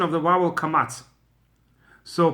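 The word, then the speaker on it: קמץ: pronunciation of the vowel Kamatz. So Patach, everybody pronounces as A. But Kamatz, the Ashkenazim pronounce it as O, or something close to it, and the Sephardim pronounce it as A.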